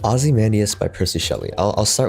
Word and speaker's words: Ozymandias: The pronunciation was correct, so Ozymandias.